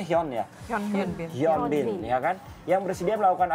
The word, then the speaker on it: Hyun Bin: Dan sekarang ini update-update terbaru tentang Hyunbin ya.